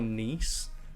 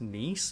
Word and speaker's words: Nice: And I'm not sure if it's Nice or Nice. I've heard that it's named after the region in France, which is pronounced Nice.